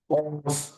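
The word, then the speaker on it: ق: অর্থাৎ পা ফা তারপরে আসি অন্যতম একটা পরিচিত হরফ কফ কফ এর উচ্চারণটা হবে মোটা এবং গলার মাঝখান থেকে কফ কফ তারপরের হরফের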